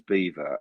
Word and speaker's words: Belvoir: It comes up as Beaver, as in. It's spelled Belvoir.